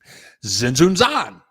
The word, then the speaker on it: Tzintzuntzan: I mean, whatever, but it ends up that the T is silent. So it is pretty cool once you get by that. Tzintzuntzan.